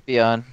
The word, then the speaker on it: Tapion: Tapion. Is it like Topis? It's literally the word tape, and then he's like an Eevee evolution, but he's made of tape.